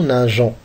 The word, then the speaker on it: nageons: Les verbes en G, on ajoute un E. Nous nageons. Pour ne pas prononcer G.